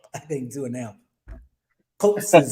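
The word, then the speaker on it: Xhosa: Coases or whatever. How you say it? Tulsa. Kosa. Okay. Kosa. Tulsa. Kosa. Okay. Kosa. Sorry for me.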